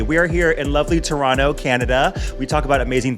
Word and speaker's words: Toronto: Toronto. You don't pronounce the second T. I don't think so. We'll find. No, I don't think so. Because it's not Toronto.